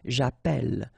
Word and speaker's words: j'appelle: in the previous video, if you have, you know, double L like that, it will affect the pronunciation of the E. So actually it will open the sound, and that's the reason why you will get the sound est, ok?